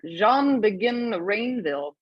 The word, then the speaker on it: Jean Begin Rainville: For the American here, Jean Begin Rainville. It's pretty good, actually. Yeah, cool, it's right. It's from French Canadian Quebec.